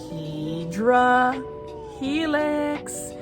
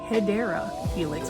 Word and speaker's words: Hedera helix: This one is a Hydra Helix. So for those that don't know, that is not the correct way to say Hedera Helix, which is the English ivy.